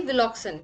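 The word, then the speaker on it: Wilcoxon: Spelling wrong है, विल्सन नहीं विलॉक्सन, ठीक है।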